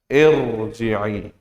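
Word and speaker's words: ارجعي: memang bukan kasroh asli, maka dilihat di sini ro-nya menjadi dibaca apa? Dibaca tafkhim. Oh, bacanya berarti menjadi irji'i. Ya, ulangi. Bacanya apa menjadi irji'i. Jadi dia nggak dibaca tarqiq.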